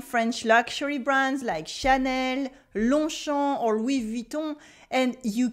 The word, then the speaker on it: Longchamp: tu gagnes tu formes nan we keep des prononciations repeat after me longchamp longchamp ou anheim longchamp et is the same thing